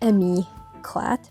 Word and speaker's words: Emi Eclat: You're not supposed to pronounce the T.